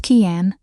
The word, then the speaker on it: Cian: Pronounced Kian, which I got wrong twice in my first week,